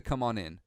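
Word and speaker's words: Kommon Inn: you see the sign it's spelled k-o-m-m-o-n space i-n-n the uh it's the come on in okay you guys heading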